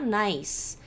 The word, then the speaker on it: nice: Essa palavra aqui, por exemplo, em português teria 2 sílabas, em inglês ela tem uma sílaba só, porque esse CE só vai ter som de S.